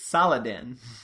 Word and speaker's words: Saladin: It's Saladin. Which sounds an awful lot like Sultan if you take out some of the syllables.